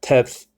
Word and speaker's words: teth: letter Tav okay but this is uh teth and this teth okay is a t is a t sounding letter okay notice the Gap